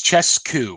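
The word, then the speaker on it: Czescu: It's Chescu, Mark Chescu. But I was wondering if the audiobook gave a better pronunciation.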